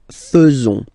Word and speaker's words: faisons: people tend to pronounce faisons. Okay, so like here, this AE is not pronounced like normally we should pronounce it, like a, but then like e. Okay, nous faisons, nous faisons.